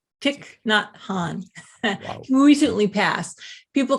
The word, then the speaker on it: Thich Nhat Hanh: I'm always struggling with this name to pronounce it. Thich Nhat Hanh. Thich Nhat Hanh.